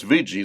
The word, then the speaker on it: Ouija: to use a VG board now it says VII that's the way it's pronounced but it's spelled o u i j